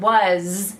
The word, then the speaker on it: was: remember the SS but in the word was it sounds like a Z so I want to